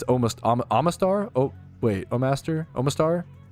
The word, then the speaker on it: Omastar: Oh Master. I used to fucking call it Oh Master growing up, but it's Omastar.